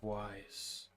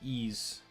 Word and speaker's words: Ys: how is it pronounced it actually is pronounced ease wise just sounded weird